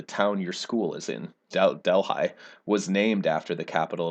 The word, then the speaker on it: Delhi: of the founders of delhi ebenezer foote decided to name it del that's the local pronunciation delhi to make fun of one